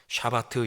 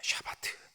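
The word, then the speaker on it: שבת: 히브리어로 그 안식하다라고 하는 단어를 샤바트 이렇게 발음합니다. 샤바트. 너무 세게 발음하지 마시고 샤바트.이 샤바트는 멈추다라고 하는 뜻입니다.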